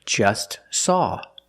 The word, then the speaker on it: just: Or just saw. We see the T is between consonants, so don't pronounce it. It's silent. Just saw.